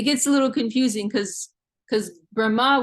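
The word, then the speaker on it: Brahmā: It gets a little confusing because Brahma with a long A on the end is referring to Lord Brahma, the Deva, the demigod who's in charge of the engineering of the universe.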